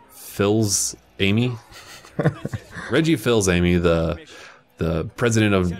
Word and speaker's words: Fils-Aimé: Fils-Aimé.